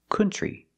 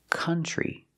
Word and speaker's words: country: cannot say another country the word is not pronounced country it's pronounced country we don't use the uh sound like foot and book we use the uh sound like cup and up and cut this is a relaxed sound uh C country country and we see the t r makes a chch sound like chicken plus the r tree together country so pronunciation another country